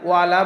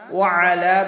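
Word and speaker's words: وَعَلَى: তাহলে আমরা এখানে খেয়াল করি ওয়া আলা, এখানে আমরা ওয়ালা বলবো না, ওয়া আলা বলবো। ইবাদিল্লাহ এখানে আইনের উচ্চারণ করব এবং বার করে একালিফ টান দেব।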